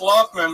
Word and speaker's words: Laughman: Yeah, it's Lothman, but yeah, it's spelled. But it's spelled like Laughman.